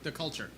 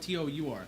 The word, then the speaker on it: Cultour: That's my band, That's a the long time. Culture. and it's spelled Cultour. So you can also say it the Cultour. We really don't care.